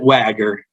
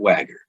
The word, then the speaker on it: Wha-Ger: so we pronounce it wagger you might not look like it's spelled that way but we do pronounce it wagger how apropos for all